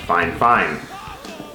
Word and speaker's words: FiFine: technologies actually it's just fine fine technology and it is spelled f-i-f-i-n-e i was told it is pronounced fine fine so let's get this